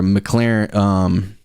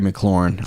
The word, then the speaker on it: McLaurin: More importantly than that, AJ or McLaren, sorry, I don't know why I'm not saying his name right, and I don't want to say it wrong. Let me find it here. Terry McLaurin.